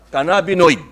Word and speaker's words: cannabinoid: teka po ah ah kailangan ito tama ang pagkakabigkas Cana canab cannabinoid cannabinoid muntik nang naging canab nioy canab Dion